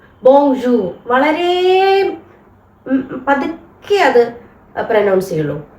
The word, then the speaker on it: bonjour: നിങ്ങൾക്ക് കുറച്ചൊന്ന് മനസ്സിലാവാൻ വേണ്ടിയിട്ട് അപ്പ എങ്ങനെയാണ് ഈ ബോജു ഈ ഇതിലെ ലാസ്റ്റ് ആർ എന്ന് പറയുന്നത് ഉച്ചരിക്കില്ല ബോജു ബോജു വളരെ പതുക്കെ അത് പ്രൊനൗൺസ്